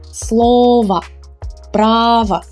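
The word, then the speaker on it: слова: in all these words in their singular form the ending o is unstressed it's unstressed so we will pronounce it as a weak ah remember as in the word sofa a sofa slova but when we change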